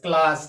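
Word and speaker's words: class: पे देख लेते हैं सी के बाद क्या आया है एल आया है सी एल A double S क्लास क्या पढ़ते हैं इसको क्लास पढ़ते हैं यानी कि सी का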